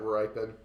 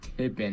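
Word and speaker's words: Rypien: I was talking about Brett ripen I just didn't know correct name you said the name wrong you said something like tipping or something or Pippen Pi yeah or something like that then col McCoy got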